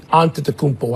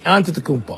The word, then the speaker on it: Antetokounmpo: They've got the player to build around in Antetokounmpo. I know you don't like to say his name. Isn't that cool to say it though? Fight with me. Antetokounmpo. Antetokounmpo.